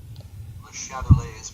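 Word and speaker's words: Le Chatelier: Okay, I don't want to be saying this guy's principle all the time, so let's see how to pronounce his name. Le Chatelet's principle.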